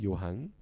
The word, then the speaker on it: 요한: 이렇게 이야기를 하고 있어요 요한 요한 사실 우리에게 굉장히 익숙한 이름이죠 구약 성경에서도 요한이라는 이름이 비슷한 이름이 나타났는데 요한은 이제 헬라식 발음이에요 똑같은 글자를 헬라어로 읽으면 요한입니다 근데 그 똑같은 발음을